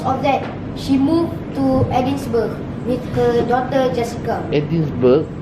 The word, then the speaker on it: Edinburgh: And because of that, she moved to Edinburgh with her daughter Jessica. Edinburgh? Edinburgh, it's a place. Scotland. Edinburgh. Edinburgh. Edinburgh. Burr. No, Edinburgh. Edinburgh. Scotland, right? In Scotland, come. Edinburgh. Yeah, that's correct pronunciation.